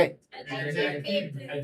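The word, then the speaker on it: adjective: एडजेक्टिव। ठीक है? एडजेक्टिव। क्या पढ़ोगे? एडजेक्टिव। ठीक है? एडजेक्टिव। बिल्कुल सही है। तो यहां पे अब आपको सीखना है तो डी साइलेंट हो जाता है।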